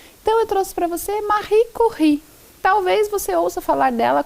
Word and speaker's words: Marie Curie: Então eu trouxe para você Marie Curie. Talvez você ouça falar dela como Marie Curie, mas a pronúncia correta é em francês Marie Curie.